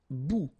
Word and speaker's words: bout: Un bout. Remember, final T not pronounced.